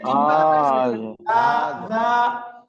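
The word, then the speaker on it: هذا: পড়েন হাজা হাজা দিস হাজা উচ্চারণ হবে হাজা হাজা হাজা মানে দিস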